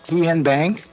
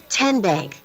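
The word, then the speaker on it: TNBank: How do you say the name? TN Bank? Nope. Tin Bank. Uh-uh. So, what is it? Tenbank. 10 as in Tennessee.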